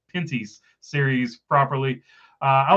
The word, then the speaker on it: Pinty's: It was Pinty's.